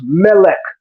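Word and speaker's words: מלך: The word for king in Hebrew is melech. Melech. The word for angel is malach. The only difference is the vowel shift.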